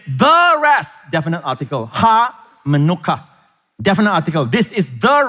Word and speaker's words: menuchah: And the word rest here is actually the word manuka. It helps you to remember the manuka honey. All right, same pronunciation, manuka. All right, manuka.